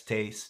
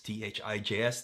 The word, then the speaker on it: Thijs: Yes, Thijs, Thijs, that's how you pronounce that.